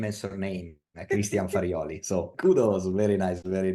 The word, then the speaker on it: Christian Farioli: You are one of the very few that can pronounce correctly my name and surname. Christian Farioli.